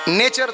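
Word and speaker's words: nature: यू R each नेचर जर spelling N ए टी यू आर इ व्हायला पाहिजे असतं तर फ्युचर स्पेलिंग काय पाहिजे घोटाळा बघा इथं एफ यु टी यू आर इ फ्युचर आणि एन यु टी यू आर इ न्यूचर व्हायला पाहिजे पण उच्चार नेचर करावा लागतो हे त्या भाषेचं दुर्दैव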